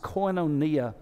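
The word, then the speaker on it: κοινωνία: it's it's that greek word that would be pronounced coinonia and in fact what happens is that the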